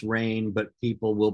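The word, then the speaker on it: Rein: vowel like ARA uh however you want to slice it it's pronounced rain but people will pronounce it or Worse rains that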